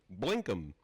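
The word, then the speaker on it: BlinkM: Okay, Blink One USB notification light and Blinkum? Blinkum.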